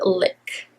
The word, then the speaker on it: Lique: It's actually at Kohl's, and it's called Lick. Yes, like a lick. And it's spelled Lique, and I'm so excited